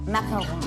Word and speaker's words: macaron: word correctly what are we baking today maon macaron maon okay there we go all right now